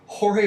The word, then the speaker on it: Jorge: We're interviewing Jorge Washington. His name is spelt George, which would have made it amazing on the billboards if we advertised for this bullshit, but we don't.